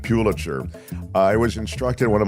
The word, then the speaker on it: Pulitzer: He said, by the way, Mark, it's Pulitzer, not Pulitzer, which I never knew.